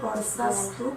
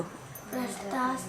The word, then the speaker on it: स्पर्शास्तु: मात्रा स्पर्शस्तु कंतेय। आपका स हो जाता है, वो आप ध्यान दें। स्पर्श इश इश इश स्पर्श अस्तु अस्तु कौन्तेय।